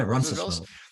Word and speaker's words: Roncesvalles: to say this wrong, Roncesvalles. Am I saying it right? Yeah, yeah, yeah. Roncesvalles.